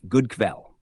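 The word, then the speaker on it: god kväll: pronounced like good three good evening is Godel pronounced like goodel now let's move on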